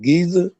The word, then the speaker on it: Giza: i remember yeah and the uh pyramids of giza did i say it right giza yes sir and you've been there i have